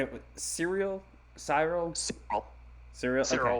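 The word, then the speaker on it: Syril: Cyril. Cyril. Cereal. Cyril. Okay. So like cereal. I Like wonder- cereal. Is that a okay? Yeah, Cyril.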